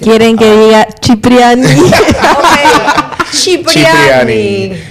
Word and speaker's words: Cipriani: Es que ya le pregunté, estamos hablando hace rato del cardenal y quiero que Lorena nos diga cómo se pronuncia. Quieren que diga Cipriani. Cipriani.